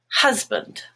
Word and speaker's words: husband: band is black but in the word husband hus which is mustard is the stressed part and band becomes but husband fast black ah but